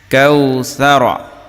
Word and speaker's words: কাওসার: জবর কাউ কাল কাউ জবর র জবর র কাউসার যেহেতু আমরা এই জায়গায় থামবো এজন্য কাউসার আশা